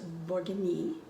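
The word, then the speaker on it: Bourgogne: best wine comes from in french that is pronounced borgini and that's where the word bourguignon comes from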